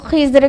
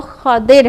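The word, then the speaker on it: خضر: तो खदिर अलैहिस्सलाम थे, खदिर जो खिज़र कहते हैं और कई प्रोनाउंसिएशन हैं, लेकिन जो बेस्ट है जो ज़्यादा सही है वो खदिर है। ठीक है, खदिर खा पर फतहा और दाद पर कसरा और रा साकिन।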